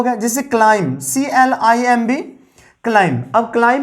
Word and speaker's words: climb: के बाद बी है, हम लोग इसका प्रोनाउंसिएशन क्लाइंब नहीं कर देंगे, क्लाइंब, इसका प्रोनाउंसिएशन होगा क्लाइम, CLIMB, क्लाइम। तो बी यहाँ पे भी साइलेंट है, एक कंडीशन।